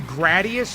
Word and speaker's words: Gradius: I think it's pronounced Gradius, not Gradius. I used to say Gradius because you gradually get better at it as you play, but I guess it's Gradius because it is a very low grade.